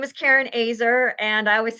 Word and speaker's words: Oeser: weren't here earlier um my name is Karen AER and I always say that because people have a hard time pronouncing it and I'm a blessing finder and